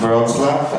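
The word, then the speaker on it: Wrocław: Uh it's pronounced Roslav.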